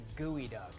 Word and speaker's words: geoduck: Kyle will not stop calling it a geoduck. Look how it's spelled and tell me that says gooey duck.